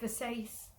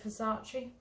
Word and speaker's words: Versace: half pronounce things weird i heard somebody say versace the other day instead of versace but you know i